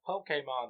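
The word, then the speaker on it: Pokémon: you Pokemon it's Pokemon it's pronounced Pokemon there's an accent pokon Pokemon I always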